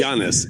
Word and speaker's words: Giannis: G I A it I S G Jiannis. He's Greek.